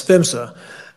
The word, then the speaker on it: PHMSA: hazardous materials safety administration and we pronounce that as femsa the federal law which is the natural gas pipeline safety act gives fimsa authority over all pipelines